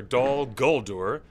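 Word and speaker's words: Dol Guldur: Dal is for Dal Guldur, and the gull is strong.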